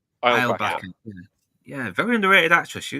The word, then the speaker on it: Eilbacher: So both of us are going to meet her later, and she's played by, how do you pronounce her name? Lisa Eilbacher. Eilbacher.